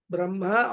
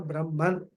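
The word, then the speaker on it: ब्रह्म: the macrocosm is Brahman Brahma or Brahman the word Brahma is got a short a if you put a long it will become Brahma which is means brah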